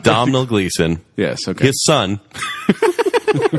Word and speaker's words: Domhnall: Donald Gleason, not Domhnall Gleeson.